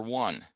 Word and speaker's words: one: is the word for one it's spelled o-n-e but it's pronounced with a w as in w-o-n what are they doing